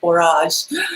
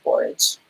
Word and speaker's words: borage: in pronunciation with things so I'm like I'm called barrage like garage you know to do the porridge and but everybody says porridge and that's what the dictionary says is porridge so yes i have